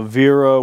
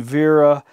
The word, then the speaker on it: Wera: i assume we're talking vera because it it's like you'd pronounce the w as a v in german however uh it says